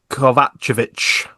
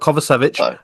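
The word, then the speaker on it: Kovačević: And then touching on the match winner, I would say, Vladan Kovacevic, as I've been told to pronounce it now. Not Kovacevic, Kovacevic.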